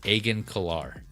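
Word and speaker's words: Agen Kolar: Jedi and then Mace Wu uh they go Aen Kar is the other Jedi. Thank you. Yeah, I had his name. I didn't know how to pronounce it. So it's Aen Kar.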